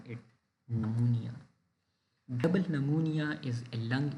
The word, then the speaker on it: pneumonia: dis order is pneumonia p is silent so we call it pneumonia pneumonia is the inflammation oful